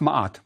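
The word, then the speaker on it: Maat: seen before is Maya it means true or just often is just pronounced MOT we all do that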